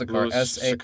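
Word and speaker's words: Sachar: That's Sakar. S-A-C-H-A-R. So we're doing that wrong.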